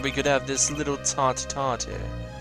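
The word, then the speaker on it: tête-à-tête: I'm glad we could have this little tete-a-tete. How do you pronounce that?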